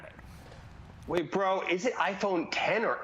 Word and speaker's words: iPhone X: Wait, bro, is it iPhone 10 or X? I thought it was X. That's probably my bad. It's pronounced iPhone 10.